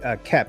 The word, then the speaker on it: Koepp: So and the writer, this original screenwriter of the original film, David KOEPP, I believe that's how you pronounce the last name. I think the O is silenced if I'm not mistaken.